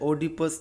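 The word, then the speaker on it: Oedipus: Second unit में जो आपको वक्स पढ़ना है, इसका नाम है इडिपस द किंग और इसके राइटर है सोफोक्कलस। एक और इसका प्रोनाउंसिएशन है ओडिपस the king bye Sophocles.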